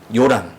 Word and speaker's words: 요람: 드렸는데, 이 아합의 아들 요람, 여호람, 이제 발음에 따라서 요람이라고 하기도 하고 여호람이라고 하기도 하는데 같은 사람입니다.